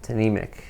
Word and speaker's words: Tnemec: Well, you pronounced Tnemec correctly, which is a rare thing in general. So yes, Tnemec.